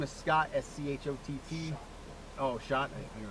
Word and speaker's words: Schott: Schott.